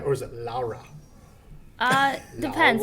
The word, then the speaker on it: Laura: Did I say it right, or is it Laura? Depends. Laura? Are you saying it in English? It's Laura.